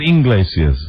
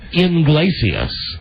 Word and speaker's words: Iglesias: You said Inglesias. Well, I can say it both ways. Tomato, tomato. Talented. Julio Iglesias. Julio Iglesias. Julio Iglesias. There you go. Julio Iglesias. Yes, but that's incorrect because it starts with an I, not an E.